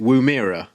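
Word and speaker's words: Woomera: Uh we have uh we have a Skylark rocket launched from Wuira in Australia. Is that how you pronounce it? Wuira.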